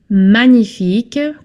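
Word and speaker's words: magnifique: Manific. Careful you don't pronounce the G here. Manic. And this is C. Manific.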